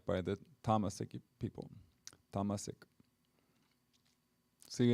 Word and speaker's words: tamasic: by the tamasiki people tamasik see in america we say tamasik but in when we just chanted you heard the sanskrit pronunciation which is tamasic anyhow i'll go with